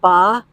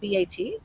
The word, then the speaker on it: bat: And the guys actually it's it's more just ba. But there it's spelled with a t. It's spelled b a t. Uhhuh. But it but that t is kept in. Oh, so it's not bat. No, it's ba. It's ba.